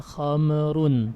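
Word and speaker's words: خمر: Awas jangan qalqalah, jangan khamrun, tapi kham, tutup bibirnya, khamrun.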